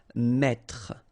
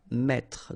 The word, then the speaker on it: mettre: That's the reason why you will pronounce mettre, mettre. Don't insist on the final E.